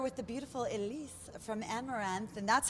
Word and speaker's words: Amaranthe: I'm Juliette Huddy here with the beautiful Elise from Amaranthe, and that's how you pronounce it.